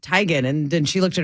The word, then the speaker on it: Teigen: last name is pronounced Teigen and then she looked at her mom she's like Mom what is our last name and her mom goes tygan and Chrissy's like do